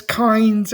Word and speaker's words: Kynes: So it's Kynes and it's it's Harkonnen.